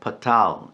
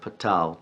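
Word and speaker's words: pathar: You'll notice it's spelled in English P-A-T-H-A-R, patal, but pronounced without the TH sound that's typically used in English. And this is because Hebrew has 2 different letters for T in our English language.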